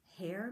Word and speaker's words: Herr: Herr Mueller? Brooke said. What kind of a goofy name is Herr? Mrs. Mason laughed. It sounds like hair, but it's spelled H-E-R-R. It means Mr. in German.